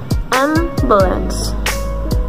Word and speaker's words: ambulance: So, like an example, ambulance. M is louder and higher pitch.